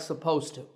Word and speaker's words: supposed to: the end of supposed when we talk it's difficult to say supposed it to so we drop that D sound in natural speech and we say it like supposed to but when you write you should always write supposed with the D alright so this is